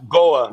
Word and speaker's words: Goa: So, it's called the Goya Sunsplash. Am I pronouncing that right? Goa.